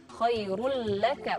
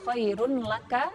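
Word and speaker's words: خَيْرٌ لَكَ: Jadi huruf ro tanwinnya itu melebur kepada huruf lam karena dia bertasydid. Khairul laka, bukan khairun laka tapi khairul laka.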